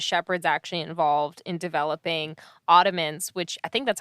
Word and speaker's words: Audiments: actually involved in developing Audiments, which I think that's how you say it, because it's like audience, but audio. So Audiments, which we've got a